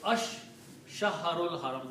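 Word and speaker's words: الشهر الحرام: So, ash-shahrul haram. When you combine, you read ash-shahrul haram.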